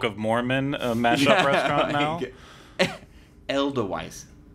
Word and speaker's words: Edelweiss: Edelweiss. How do you say it? Edelweiss? Edelweiss. Sorry. Elderweiss. Have I been saying that wrong all this time? I guess Haven't so.